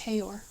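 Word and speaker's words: Haigha: His name is Hayor. He pronounced it so as to rhyme with mayor.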